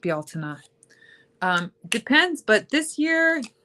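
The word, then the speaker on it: Beltane: Um Anna asks how I celebrate Beltain actually pronounced Baltina.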